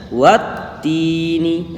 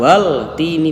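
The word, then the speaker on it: وَالتِّينِ: Itu alif dan lam ini kan tidak ada harokatnya. Nah, itu makanya tidak dibaca. Jadi langsung saja cara membacanya wattini. Nah, itu kan bukan wal tini, bukan ya. Jadi wattini.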